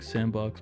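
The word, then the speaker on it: s&box: triggers uhoh executive bound it's pronounced like sandbox but there's a Roblox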